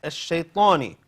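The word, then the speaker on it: الشيطان: Next, ash-shaytani. This is hamza to wasl. Lam is silent, so we leave it empty.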